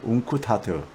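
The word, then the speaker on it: UNCTAD: 우리가 지난주 2일 날, 그러니까 7월 2일 날 웅쿠타드, 이게 뭐 발음하다 보면 웅쿠타트가 이렇게 되오는데 강하게요.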